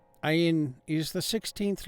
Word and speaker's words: Ayin: The pronunciation of the Ayin is also very significant. It is often mispronounced as a silent letter similar to the Aleph. However, Ayin's correct sound is a guttural throat sound which stimulates the thyroid gland.